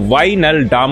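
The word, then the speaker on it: Wijnaldum: যের উচ্চারণ হয় না তাই এই জায়গাটার নাম হচ্ছে ওয়াইনাল ডাম বলে একটা জায়গাতে খনন কার্য করে যে ব্রোজগুলো পাওয়া গেছে তাতে দেখা গেছে ভারতের রাজস্থানের গার্নেটস।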